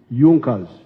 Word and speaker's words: Junkers: However, there was a strong business group in Prussia known as Junas. It is written Junkers, but they pronounced pronounce it Junkers.